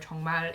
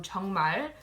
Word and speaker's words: 정말: I'm sure a lot of you are familiar with the word 정말. It means really. So 정말, because the 릴 is the last letter in the word, it's pronounced as an L.